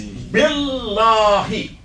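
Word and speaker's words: بالله: Now the next part of it is billahi. Billahi. This is actually a compound word. We add B in front of Allah.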